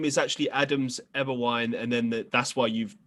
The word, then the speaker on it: Eberwein: and first of all you pronounced it correctly which is unheard of almost everybody gets it incorrect they say like everween or you know and so